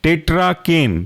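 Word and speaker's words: tetracaine: पहला एग्जांपल है आपका टेट्राकेन टेट्रा की स्पेलिंग का आपको पता होगा टी ई टी आर ए और केन सी ए आई एन ई टेट्रा केन दूसरा एग्जांपल है बूपी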